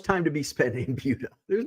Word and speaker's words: Buda: Now, I call it Buda, and I think that's the correct pronunciation. Some people call it Buddha. It's like, no, there's no H. Buda, which is, I haven't